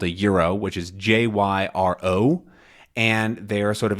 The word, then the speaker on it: gyro: But most specifically, you can find gyros. or gyros, or however you want to pronounce it. But I've almost always heard it called a gyro, which is Jyro, and they are sort of a Greek sandwich